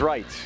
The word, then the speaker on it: Reitz: you square keeper heris it's rights well the old football coach Janette was Ray Ritz spelled the same way Ken Reitz the third baseman for the Cardinals this is rites Reit a r or